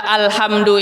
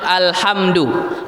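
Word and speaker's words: الحمد: sering kita kecolongan bahwa p alhamdu ini lam Itu dimatikan alhamdu karena alif lam itu adalah alif lam qamariah jadi bacanya alhamdu Apabila seseorang membaca alham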